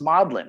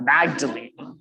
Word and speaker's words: Magdalen: punting on the thames do you know how to pronounce maudlin or do you say something like magdalene these are all things